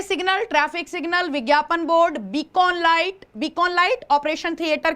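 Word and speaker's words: beacon: रखिए इसे बीकॉन light, Hindi actually इसका प्रोनाउंसिएशन है बेकन। क्या प्रोनाउंसिएशन है, बेकन, लेकिन हिंदी मीडियम आपको देगा बकायदा बीकॉन, तो आपको बेकॉन लाइट वैसे याद रखना है, ठीक है।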